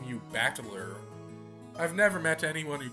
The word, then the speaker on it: Battler: is my given name this part is made up of the characters for fight and person and it's pronounced bachelor put it all together and